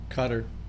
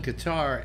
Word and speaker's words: Qatar: played uh probably qatar cutter i don't know everybody calls it guitar and and it's it's actually pronounced cutter i believe yeah yeah yeah and